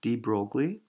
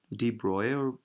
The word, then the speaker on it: de Broglie: so the answer was given by someone called de Broglie d broil de Broglie I'm sorry I Ronald pronounce his name so he's the guy who